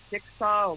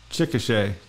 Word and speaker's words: Chickasha: know, you call it, is it Chickasaw? How do you say where they live? Chickasha. Chickasha. Yep, Chickasha.